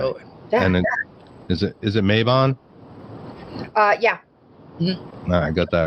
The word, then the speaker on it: Mabon: And is it Mabon? Yeah. I got that right. Well, that's two. All right. Doing good. Mabon, Litha, Lunasa.